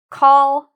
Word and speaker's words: called: So what I can do is first pronounce them separately. Call, d. called. And now I'm going to use my finger and blend them. Called, called, called. And then when I'm ready, I can start moving my finger faster and pronouncing it all together.